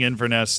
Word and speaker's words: Inverness: If you ever find yourself in the Highlands, capital, pronouncing Inverness like mess, got it.